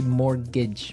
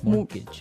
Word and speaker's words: mortgage: with a t yeah it has a t in it but you don't pronounce it you say mortgage morgage so not Mort mortgage